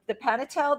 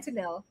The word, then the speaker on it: Pantanal: I wanted to go on your trip to the Panatel. Did I say it? Pantanal. Thank you. I never say it correctly. It's It's like close Pantera, the place you eat at.